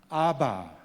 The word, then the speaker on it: 아바: 아빠라고 그렇게 부르기보다는 아바 아빠 이렇게 발음하는 것이 더 정확할 수 있습니다.